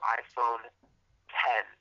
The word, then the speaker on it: iPhone X: Apple unveils the new iPhone 10. iPhone X, but it's pronounced 10.